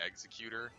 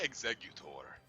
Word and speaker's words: Exeggutor: it's a pot like they probably wanted you to pronounce it like executor like executor but I would say exeggutor cuz it sounds way cooler I'll show you my